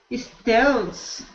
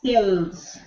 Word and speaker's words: Stills: gos there you go Stills perfect oh it's because that the people don't understand me maybe maybe because if you ever said yes I am steel that sounds like you are saying steel like the metal there is